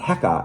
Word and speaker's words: heka: And they're such an important symbol, in fact, that the crook, pronounced Heka, actually becomes the word for power in ancient Egyptian, and that's how you write it in hieroglyphs.